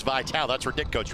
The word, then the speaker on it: Vitale: You see that last name and you go, wait a minute, it's Detroit Mercy, it's Vitale, that's our Dick coach, right? No. Dan pronounces his last name Vitale, 3rd year as the head coach of the softball program at Detroit Mercy.